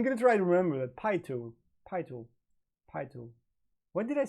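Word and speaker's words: PiTool: I believe it's pronounced P-Tool, not P-Tool. Pi-Tool. Pi-Tool, yeah.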